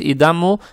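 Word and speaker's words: إِذَا: Фатху тянем за счет алифа без огласовок. Тянем 2 раза. Это маттаби'и. Получается ида. Ида. Ида.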